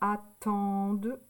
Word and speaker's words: attendent: n T e non le N et le t on ne l'entend pas là c'est du verbe attendre